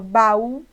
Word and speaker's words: baú: Até porque quando eu falo mal, eu tenho uma única abertura de boca, mas quando eu falo baú, eu tenho um movimento para o A e um outro para o U.